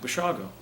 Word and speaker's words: Basiago: unusual I said b-a-s-i-a-g-o he said well that sounds like basiago's you pronounce it what is it and I said bushago and he said Italian